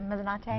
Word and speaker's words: Mezzanotte: He is the chef and owner of Cafe Mezzanotte. Good morning. Good morning. Did I pronounce that right? Mezzanotte?